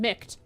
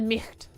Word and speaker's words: Micht: No, they pronounced his name Micht. I always said Micht.